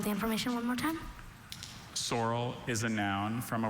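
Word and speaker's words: saurel: Sorrel.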